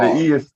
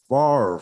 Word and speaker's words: Favre: How do you pronounce his last name? Favre? Brett Yeah, Favre. the E is silent. The E is Brett silent. Right. Favre.